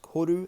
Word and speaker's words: koru: the corduroy logo uh spelt k-o-r-u pronounced horu and enter or maori um that the the